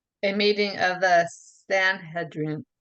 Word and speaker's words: Sanhedrin: Sanhedrin. Sanhedrin.